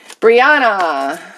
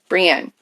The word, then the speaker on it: Brienne: Okay, Brianna. Okay. Or Brienne. Okay, Brienne. Sorry, I said your name wrong.